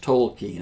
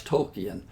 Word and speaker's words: Tolkien: says to his professor you know my name is pronounced Tolkien and the professor says I thought it was token yeah but so for